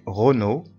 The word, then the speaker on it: Renaud: J'aime beaucoup la Provence et la marche, mais Renaud, L-A-U تنطق O, mais Renaud n'est pas très sympathique.